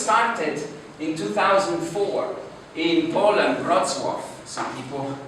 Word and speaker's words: Wrocław: The company was started in 2004 in Poland, Wrocław.